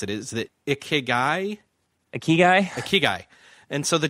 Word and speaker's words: ikigai: I'm trying to figure out how you pronounce it. Is that ikigai?